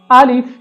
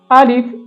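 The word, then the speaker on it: ألف: इसके अंदर मुमकिन गलती यह है कि या तो हमज़ा को खींच कर पढ़ा जाता है जैसे आलिफ, या फिर लाम को खींच कर पढ़ा जाता है जैसे अलीफ। तो ये दोनों गलत हैं। इसकी असल प्रोनाउंसिएशन है आलिफ, आलिफ।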